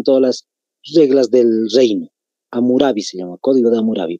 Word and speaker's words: Hammurabi: Hammurabi se escribe con H al inicio y con doble M.